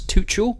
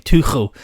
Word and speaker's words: Tuchel: And he was saying Tuchel, and the German guy actually said, "Scousers will find it easy to say."